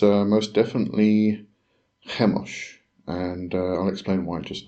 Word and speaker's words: Chemosh: and destruction um hos I'm sure some people probably pronounce this chos um but considering that's kind of a Semitic um or has Semitic um Origins I'm going to rather go with the pronun pronunciation if I can even say that word of hos but anyway so I'm